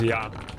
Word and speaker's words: ja: They don't know that Dutch way is actually correct, which is ja.